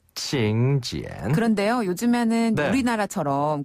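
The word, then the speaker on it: 请柬: 중국어로는 징 지엔 징 지엔 한 번 더 칭 지엔 칭 지엔 그런데요 요즘에는 우리나라처럼 그 모바일 청첩장을 많이 보내는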